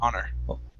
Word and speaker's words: honor: so instead of honor this is one of the words where we do not pronounce the h honor okay there you go